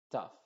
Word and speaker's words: tough: se diría couple Touch tough la gh suena como f en este contexto tough country young Double cen